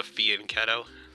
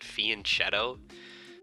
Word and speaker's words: fianchetto: This is called a fianchetto. For some reason, some weirdos pronounce it fianchetto. That ain't it. Not it one bit.